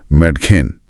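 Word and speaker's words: Mädchen: इसमें ए उमलाउट है मतलब लड़की। यहां ए उमलाउट की वजह से आ की जगह ए की ध्वनि दे रहा है। तो यह होगा मैटिन मैडखेन वो च की ध्वनि थोड़ी अलग है पर ए का काम एकदम साफ है।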